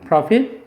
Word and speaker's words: prophet: 강세는 얘는 이름절. prophet.